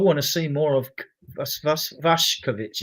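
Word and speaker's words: Vušković: to see more of Vash Kovichic. It's actually pronounced Vash, but we want to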